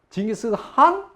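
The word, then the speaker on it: 칭기즈 칸: 징기스칸? 그러니까 노. 징기스칸 이 콧소리를 내야 돼요. 그래서 칸도 아니고 한도 아니고.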